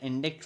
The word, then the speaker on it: indict: have to remember that indict rhymes with verdict indict rhymes with verdict